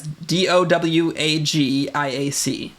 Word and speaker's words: Dowagiac: It's pronounced Bablo. Fuck you. Mm-hmm. Bablo. Prick. This one's not too hard. It's DOWAGIAC.